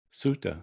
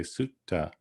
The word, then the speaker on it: sutta: before a vang so notice here by the way that the word suitang has one t but the word sutta which we talk a lot about in pali it means the discourse has two t's so that means if we're talking about a pali discourse we wouldn't really say suta suda we want to say sutta we want to divide